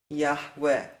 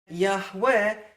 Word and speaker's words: Yahweh: Yahweh can contract to the short form Yahu. No other pronunciation can contract to the short form Yahu. The short form Yahu demands that the first vowel is a patach, that the second vowel is a schwa, that the third vowel is a segul.